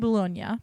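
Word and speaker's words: Boulogne: it's the English pronunciation I'm saying bolog because that's the French pronunciation of it and it was in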